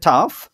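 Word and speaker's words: tough: তাহলে আপনারা বুঝতে পারবেন এইযে এখানে দেখেন তাহলে উচ্চারণটা কি হলো টাফ এন্ড বা কাফ এন্ড এই শব্দগুলো দেখতে কিন্তু একই রকম না দেখেন ও ইউজিএইচ ওজিএইচ ওই ইউজিএইচ আছে বাট উচ্চারণটা দেখছেন একটু আলাদা এইটা আপনাকে মাথায় রাখতে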